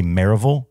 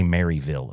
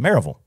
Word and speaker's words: Maryville: you live that area you say maraville you don't say Maryville okay people oh no uhuh it's not like Knoxville you say Knoxville it says maraville it's spelled Maryville I know but it's marville okay Lynn lives in